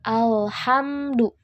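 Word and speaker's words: الحمد: dari huruf pelak Alga sering membaca seperti Qalqalah ale-ale jadi ada pantun ada pantulannya gitu seharusnya al-hamdu Jadi tapi perhatikan huruf-huruf sukun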